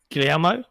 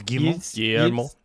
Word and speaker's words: Guillemot: This came via, I think, an internal memo from Guillermo. Is that how you say his name? Yves Guillemot. Guillermo. You never say the end of a French word.